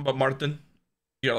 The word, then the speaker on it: Martin: You can say Martin, but Martin. You gotta like. Martin. Yeah, you gotta like pronounce the. You put a little on the RT. Little, yeah. Otherwise, I sound like an American.